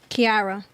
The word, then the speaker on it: Kiara: pronouncing your name right is it Kiara or Cara Kiara Kiara okay what about you uh